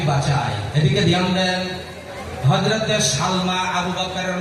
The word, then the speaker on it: সালমা: ভালো করে বলছেন, আবু বকরের নাম হচ্ছে, মায়ের নাম হলো হযরতে সালমা। জোরে বলে নাম কি? সিন লাম জবর সাল, মিম খারা জবর মা, কি হলো উচ্চারণ? সালমা।